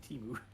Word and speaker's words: Temu: It's supposed to be Timu.